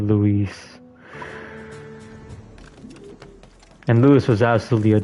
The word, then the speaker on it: Luis: You know, one thing I loved about the original Lori4, Leon always said his name wrong. He just said Louis instead of Louise.